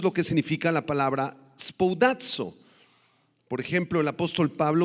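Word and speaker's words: σπουδάζω: La palabra procurar, si tú la subrayas por favor en el verso 10, es la palabra griega spoudazo, con acento en la A, y significa hacer algo con prioridad, con premura.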